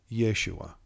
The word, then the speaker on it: Yeshua: the vav this produces this name can be pronounced in more than one way but for this meditation we will use yeshua the pentagramaton has been